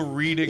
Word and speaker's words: Reading: It's not It's not the Reading and Leeds Festival. It's the Reading and Leeds Festival.